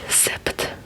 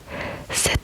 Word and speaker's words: sept: So you don't say sept, but you say just set set, which is which is really really rare in French that you uh pronounce this letter here.